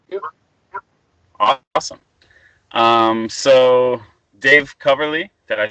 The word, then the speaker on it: Coverly: So Dave Coverly, did I say it right?